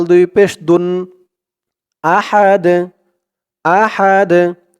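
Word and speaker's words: أحد: আ হা জবর হা আহা দাল দুই পেশ দুন আহাদ আহাদ এখানে অকফ থামার কারণে উচ্চারণ হয়েছে আহাদ দালের উপরে দুই পেশ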